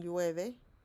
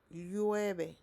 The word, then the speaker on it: llueve: Do you remember how to pronounce the double L in llueve? Yeah, let's go back. So, llueve. If you cannot say the double L, think the double L as a Y.